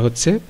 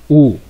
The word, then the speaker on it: who: এখানে প্রথমে আমরা একটা ওয়ার্ড দেখতে পাচ্ছি, সেটা হচ্ছে উ। আমরা অনেক সময় এই শব্দটাকে উচ্চারণ করি হু, মানে বাংলা হয়ের মতো উচ্চারণ করি, আসলে কিন্তু হ উচ্চারণ হবে না, এটার উচ্চারণ হবে উ, উ উচ্চারণ হবে, হু না।